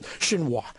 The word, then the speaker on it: Xinhua: to the shows and this is the way you pronounce it i believe it was xinhua so aisha's footsie china